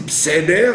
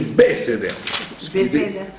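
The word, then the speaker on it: בְּסֵדֶר: Quand un Sheva est au début d'un mot, il est toujours Na. Il se prononce toujours. C'est pour ça qu'il y a l'étoile. Donc les gens qui disent Bseder, ce n'est pas, c'est pas propre.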